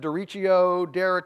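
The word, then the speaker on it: derecho: Many of you may have heard about I've heard it said Dericho, rhymes with Jericho.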